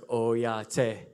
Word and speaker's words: oyate: So we'll say it like this, like oyate.